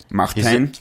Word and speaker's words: Martin: So I'm going to try to pronounce Martin's name the proper Dutch way. Martin.